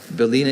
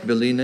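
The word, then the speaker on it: bylina: Belina is a noun.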